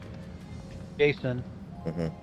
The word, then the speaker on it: Jacen: One of their kids was Anakin, then Jason. That's who you're thinking of. It wasn't a hard C.